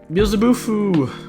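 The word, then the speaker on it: Beelzebufo: But yeah, Beelzebufu. That's how you say it.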